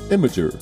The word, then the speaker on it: Imgur: The correct pronunciation is Imgur.